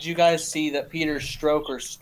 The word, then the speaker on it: Strzok: Quickly, Red Feather 1 asks, did you guys see that Peter Stroke, or I don't know how to pronounce that fucker's name. I think it's pronounced Strock.